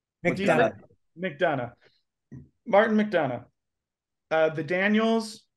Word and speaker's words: McDonagh: And the best director nominees are Martin McDonagh, or how do you say McDonagh?